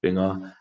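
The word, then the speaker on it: 빙어: In Korean, it's pronounced binga.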